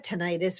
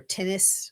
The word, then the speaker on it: tinnitus: The problem for me with silence is I have tinnitus or tinnitus, however people want to pronounce it.